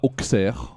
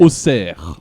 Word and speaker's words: oxer: à tout jamais oui oxer ça ne se prononce pas oxer jamais de la vie c'est mais osser c'est comme mes c'est comme mes on dit pas met on dit mes oxer c'est bien er moi je mets des